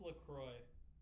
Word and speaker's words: LaCroix: It's pronounced Lacroix.